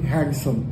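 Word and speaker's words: handsome: लेले हैंडसम तो actually हैंडसम में डी आप डिसपे उसको अवॉइड करें और आप प्रोनाउंस कीजिए हैंडसम नॉट हैंडसम इ बीन हैंडसम डी आपको इग्नोर करना है सो the pronunciation will be हैंडसम ही हैंडसम गाय अब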